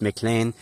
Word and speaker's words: McLean: And it's not exactly clear if the Mlane mound spelled MLEN but uh pronounced Mlane.